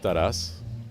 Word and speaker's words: Taras: The amount of different, now I will say it's pronounced Taras.